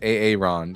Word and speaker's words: Aaron: Hey, it's Aaron, the only way to pronounce it.